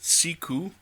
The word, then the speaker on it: Siku: It's a Siku, and I'm sorry, I keep pronouncing it Siku or Siku, or the Somali word, I think it is Siku, but the Germans pronounce it Siku, and I know that because I watched a video tour of their facility, and that's what the designers and model makers were saying, Siku.